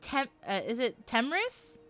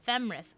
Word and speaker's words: Themris: Is it Temris? I'm very terrible at pronunciation. But I think Temris, like Temis, like Thames, in Final Fantasy 14. Is it Themris? Do I pronounce the Okay. It's a ship name of Thana and Emrys. Oh! Oh. Thana and Emrys, so Themris.